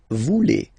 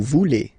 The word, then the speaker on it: voulez: Same thing here, classic ending EZ for vous, but then you pronounce it et. Vous voulez. Vous voulez.